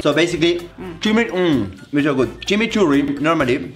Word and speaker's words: chimichurri: Chimichurri. It's not like that. That's not how you say it. It's chimichurri. Chimichurri.